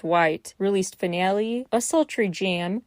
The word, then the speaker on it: Whyte: White, WHYTE, aka question mark TE, sometimes that's how it's spelled, but it's white, released Finale, a sultry jam, kind of reminiscent of Boa's style.